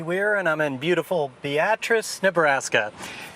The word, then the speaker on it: Beatrice: Hey, this is Andy Weir, and I'm in beautiful Beatrice, Nebraska. And that's pronounced Beatrice, not Beatrice. You got to get that pronunciation correct.